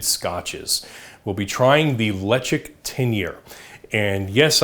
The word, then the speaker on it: Ledaig: We'll be trying the Ledaig 10-year. And yes, I know the pronunciation doesn't sound anything like the spelling, but hey, that's Gaelic for you. So a little bit of information on Ledaig.